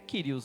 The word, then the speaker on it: Kyrios: Ele tem o som do R, né? Então é o Rho. Então ele é o Kiri. Ali, no caso, está Kyriakos, que é Kyrios, né?